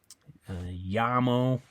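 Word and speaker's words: llamo: Aya okay uh so a I mean she yamo it also has Double L that means I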